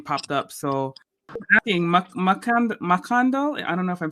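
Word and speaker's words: Mackandal: So asking Makando. I don't know if I'm saying that right, but Makanda. Makanda. Okay, so the L is silent. Yeah. Gotcha. So Wakanda, but with the M, kind of.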